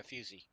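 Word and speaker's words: fusee: How do you pronounce that word? Oh, it's 'cause he's eating. F-U-S-E-E. A fusey? Yeah, fusey.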